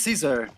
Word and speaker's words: Caesar: No, it's Caesar, like Caesar. the emperor.